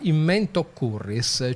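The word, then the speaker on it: in mentem occurres: l'inizio della parola successiva i romani non la pronunciavano quindi può andarsene tranquilla diventa in mente o curris e create una sillaba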